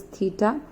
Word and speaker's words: theta: So I am here considering C as theta. Theta means the measure of the angle. This symbol is theta, like capital Q आपने बनाया हुआ है, it looks like in that way.